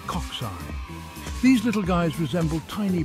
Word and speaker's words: cocci: First up, we have the spherical culci, pronounced cocci.